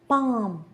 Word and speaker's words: palm: calm, palm, balm, salmon. Can you hear L anywhere?